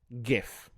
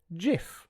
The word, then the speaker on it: GIF: But the thing I wanted to talk about is the fact that it is pronounced GIF. Some people disagree with me. Some people pronounce it GIF with a soft G.